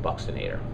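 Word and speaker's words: buccinator: is going to be called the buchen ATAR okay some people also pronounce it Buxton ater so I don't really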